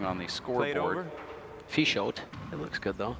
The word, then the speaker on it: Peixoto: Peixoto. It looks good though. Just a Silent P. Just a P, get rid of the F.